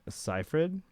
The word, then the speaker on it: Seyfried: Pronounce her name Seyfried.